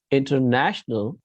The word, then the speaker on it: international: So here in this case, international, the accent is on second syllable.